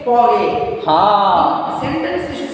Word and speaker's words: parler: While saying that verb separately, it should be pronounced as parler.